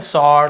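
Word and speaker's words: sword: लेकिन यहां पे हमको डब्लू को नहीं पढ़ना। स्वर्ड ऐसे नहीं पढ़ना है। व को नहीं पढ़ना। केवल स्वॉर्ड ऐसे पढ़ना है हमें।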